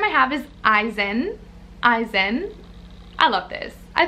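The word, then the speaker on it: Izen: name i have is eisen eisen i love this i think that this is so freaking cute very unique i've never met an eisen before but i loved it eisen it's like ivan eisen it's different it is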